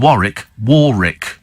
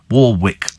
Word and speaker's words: Warwick: Sandy in Peterborough says our 7-year-old grandson called Warwick Castle. Warwick Castle. He can't understand why the second W in it is pronounced as an R.